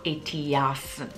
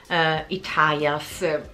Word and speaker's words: ETIAS: Se vogliamo dirlo, la pronuncia all'italiano si chiamerà ETIAS. ok? Italias, l'ho sentito appunto, dipende uno da dove arriva, lo pronuncia in modo diverso.